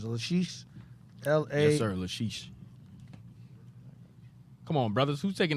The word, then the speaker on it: Lachish: Yes, sir, Lachish.